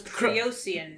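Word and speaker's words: Kriosian: Because I always think it sounded like someone who was from Croatia. Oh, no, it was Creosian.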